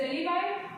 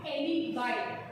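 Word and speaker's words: alibi: Now will come to another maxim, that is एलिबाई। इसको बोलेंगे एलिबाई, एलिबी नहीं बोलेंगे, एलिबाई।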